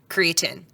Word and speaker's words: creatine: a lot of times we will say creatin mhm um which looks wrong I know as somebody who likes my silent E that change vows yeah